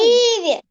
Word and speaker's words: ківі: Кі ківі. Ну, гукають. Киві. Так. Куди падає наголос? На перший чи на другий склад? На какой? На первый. Перший. Так, молодець. На перший.